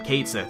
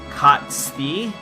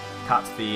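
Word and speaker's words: Cait Sith: I'm going to be calling him Kate Sith, but it's actually a Gaelic word, and his name is actually pronounced like I think it's like Kotsthi, something like that.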